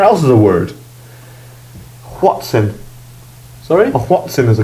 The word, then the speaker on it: Hoatzin: If I'm bothered, I'll put a Wikipedia link to a Whatsin. Whatsin. It's spelled Hotzin though.